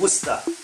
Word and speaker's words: Worcester: You pronounce it Worcester.